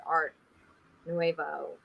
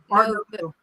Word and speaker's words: Art Nouveau: So 2 syllables. Novu. Art Nouveau. Like Nobu.